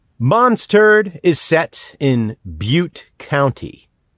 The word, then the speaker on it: Butte: MONSTURD is set in Butte County. That's right, like Butt County, with an E.